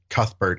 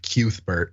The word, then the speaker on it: Cuthbert: I I appreciate that you pronounce it Cuthbert instead of cubert because yeah that second one just feels bad on on the mouth and the ears um but you you